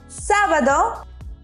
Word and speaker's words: sábado: Sábado. We also have an accent there, so emphasize the A.